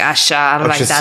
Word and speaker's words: Asia: can't say temer yeah and even with asha they have like asia i'm like asha my name is happening